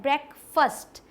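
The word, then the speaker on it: breakfast: आगे बढ़ते हैं, ये क्या पढ़ लेते हैं, ब्रेकफास्ट मतलब नाश्ता, लेकिन ये फास्ट नहीं, ये फर्स्ट है, ब्रेकफास्ट।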